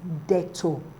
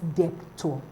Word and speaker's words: debt: like being conning all right option b is pronounced as detto not depto not depto the be is not sounded detto